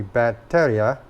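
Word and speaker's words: Batería: If you put the tilde over the I, it would be Bateria, which means battery.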